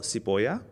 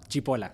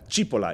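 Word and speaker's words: Cipolla: so I have with me today uh Ariel siboya right did I pronounce that correctly or sipola no Chipola Chipola it's Italian it's Italian it's like it's onion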